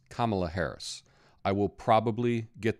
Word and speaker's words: Kamala: American Journey but first her name is pronounced Kamala like a comma followed by LA like la-dee-da so it's Kamala Harris I will probably